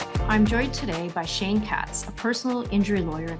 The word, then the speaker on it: Katz: Bad joke, but do your partners tease you that with your last name pronounced Katz, you represented a party in a dog case?